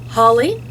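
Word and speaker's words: Hawley: Author is Sarah uh Holly or I think that's how it's spelled. It sounds like holly, but it's actually haul e.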